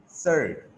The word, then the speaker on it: surd: अब एक important terminology है जो इस चैप्टर के एंड में मैं इंट्रोड्यूस करवा रहा हूँ बेटा, SURD, सर्ड, इसको पढ़ते हैं सर्ड, सर्ड, सर्ड नहीं सर्ड, प्रोनाउंसिएशन गलत होगी इसकी, इस पर भी गौर किया करें ज़रा और मेहनत किया करें।